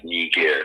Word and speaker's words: Niger: And that'll tell you what the Niger and how to pronounce it. And it's Niger.